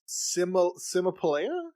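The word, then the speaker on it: Cymopoleia: Kimapolea? Kimapolea. Mm-hmm. You know what? When I go to her page, it says that it's pronounced with, like, a S because it's a C.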